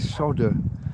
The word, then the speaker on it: solder: America, if you ever hear Americans, they they talk about a soldering iron and solder. The L in solder is silent like the L in